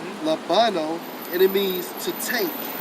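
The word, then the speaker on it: λαμβάνω: I received is Strong's G 2983, pronounced as lambano, lambano, and it means to take with the hand, lay hold of any person or thing in order to use it.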